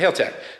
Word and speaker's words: Haltech: So you're supposed to say it like, hey, Hale, over there, like my buddy Hale. Say Haltech.